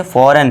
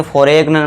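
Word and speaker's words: foreign: यदि जी के बाद एन हो तो जी साइलेंट होता है।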